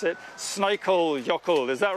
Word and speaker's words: Snæfellsjökull: that back, because I was hoping that you'd pronounce it. Snæfellsjökull, is that right? We've lost the place name now. Snæfellsjökull.